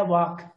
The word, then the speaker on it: walk: नहीं है, यह है walk. L is a silent letter. Walk नहीं होता, talk नहीं होता, talk होता है। L साइलेंट लेटर होता है, एल का साउंड आपको नहीं निकाला जाता।